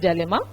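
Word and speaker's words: dilemma: Then organisation structure and ethics ethical डिलेमा, डायलेमा कोई नहीं बोलेगा, इसकी करेक्ट प्रोनाउंसिएशन इज डायलेमा।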